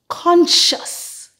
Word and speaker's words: conscious: sciencetist scientist sers scissors now in these two words the C is silent and the S sound is shh for example conscience conscious thank you very much